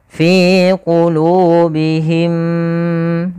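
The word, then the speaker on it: فِي قُلُوبِهِمْ: Cara membacanya adalah kita tahan dulu suara mimnya yang pertama, masukkan kedua dan ditahan. Maka fi qulubihim, fi qulubihim. Baru lepas.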